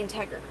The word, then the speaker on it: integer: In this case, you're going to pronounce it totally different than how it looks for no fucking reason.